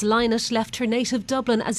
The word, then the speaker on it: Lynott: ireland's original rock stars philomena who pronounced her surname as linus left her native dublin